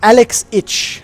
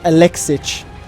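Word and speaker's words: Alexich: And I got a lot of flack from, it's Alex Itch. Apparently there's a small pause instead of Alexic, but whatever, it doesn't matter.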